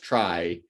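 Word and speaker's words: trie: in the uh t-r-e-e tree sense and tree in the t-r-i-e sometimes pronounced try uh like it's it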